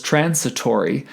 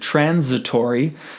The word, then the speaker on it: transitory: we would pronounce it transitory so i looked up the word and discovered that the s in the middle of it is unvoiced versus voiced and then these apps